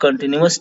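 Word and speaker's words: continuous: अब present कंटिन्यूअस tense को, कंटिन्यूअस का स्पेलिंग याद रखिए, CONTI न्यूअस, NUOUS न्यूअस, न्यूअस करके पढ़ेंगे तो आपको ध्यान रहेगा, लेकिन ये न्यूअस उच्चारण करते हैं इसका।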